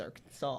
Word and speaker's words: Arkansas: Why is this one pronounced Kansas and this one not pronounced Arkansas? Why pronounce Arkansas? America, explain. But I feel like the state just got so fed up. They're fed up with Arkansas. Like, you idiots, it's Arkansas.